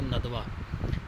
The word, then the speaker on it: ندوہ: قیام عمل میں آیا۔ یہ ندوہ بھی بولتے ہیں لیکن صحیح طرف ہے ندوہ۔ ندوہ کا مطلب ہوتا